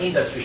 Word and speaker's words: industry: So like here, number 14 is word on the first syllable. So we say in. Yeah, so maybe say it once again, right? Industry.